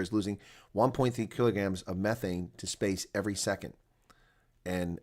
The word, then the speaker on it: methane: planet's atmosphere while at the same time giving methane or methane, correctly pronounced, and other organic molecules a kick out